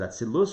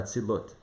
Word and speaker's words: Atzilut: Could pronounce it Atzilus or Atzilut. To be consistent, I'm going to go with the T ending.